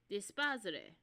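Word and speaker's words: D'espairsRay: Um Dispos is what they are um pronounced as.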